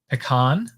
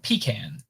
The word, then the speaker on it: pecan: will do is um use the ipa alphabet to pronounce pecan and pecan or i guess maybe this is pecan and this is pecan